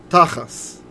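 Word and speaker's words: תחש: So if we were to read this word in Ashkenaz pronunciation of the Hebrew, we'd say tachas.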